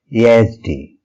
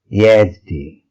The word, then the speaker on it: Yezdi: Our next brand is Yezdi, and it's pronounced as Yazdi. Yazdi.